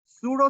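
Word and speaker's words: pseudo: होते हैं हमारे पास सूडो सेलेक्टर्स। सूडो, पी इसमें साइलेंट है, इसको पसीडो पढ़ लें आप, इसको हम सूडो कहते हैं।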